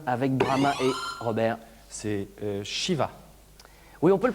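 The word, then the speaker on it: Siva: C'est Shiva. Oui, on peut le prononcer, c'est ça s'écrit S-I-V-A, mais ça se prononce effectivement comme ça, avec Brahma et Vishnu, évidemment.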